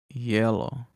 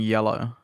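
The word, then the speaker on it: hielo: the same yeah i wouldn't have thought it'd sound like that h-i-e-l-o i would have thought it would be like yellow i guess that's the same ph you never like we never actually um how do you say this we never actually make the h sound like it doesn't have any sound yellow yeah so it's not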